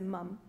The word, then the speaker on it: ma'am: and then later as ma'am pronounced as mum when she stands you